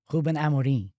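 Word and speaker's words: Rúben Amorim: Ruben Amarin.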